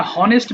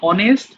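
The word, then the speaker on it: honest: আর এটা হনেস্ট বলবা না। অনেস্ট আর এটা জেন্টেল।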